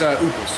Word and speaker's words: Opals: Now, is it pronounced Oopals or Opals? It's Opals. Opals.